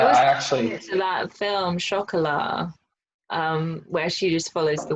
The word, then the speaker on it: chocolat: I always thought it was chocolate. Chocolate. Are you just being fancy, Tim? No, no, yeah, I just know. I feel like the right way to say it is chocolat. What did I Right? say? Is that Chocolat. you said chocolat? Yeah. It's French. That's how they say it.